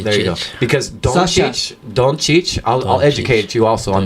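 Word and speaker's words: Dončić: And a soft ch, and it goes ch and ch, right? Oh, okay. Doncic. Doncic. Yeah, so you got to go Doncic.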